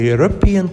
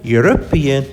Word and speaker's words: European: allows to take a european trip every year european u the e is pronounced as a consonant sound so use a european